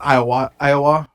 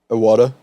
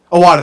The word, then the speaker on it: Iwata: But I can't pronounce his name. What's his name, Caleb? This is Iowa. Iwata. Iwata, thank you.